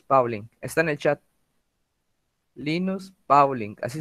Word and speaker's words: Linus Pauling: está en el chat linus pauling así se escribe se pronuncia no como se escribe linus pauling ok les